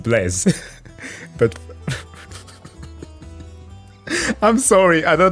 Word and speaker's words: Blaise: The French mathematician, also a philosopher, who invented the first calculator, but it's pronounced Blaise.